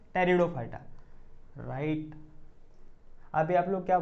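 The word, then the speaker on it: Pteridophyta: अब जो तीसरा वाला है उसको क्या बोलेंगे, कमेंट में बताओ, पी टेरिडो फाइटा, नहीं बेटा पी साइलेंट होता है यहाँ पे, हम लोग क्या बोलेंगे, टेरिडो फाइटा, मेरी नहीं तेरी दो फाइटा, तेरी दो फाइटा, राइट, जोकिंग, ओके।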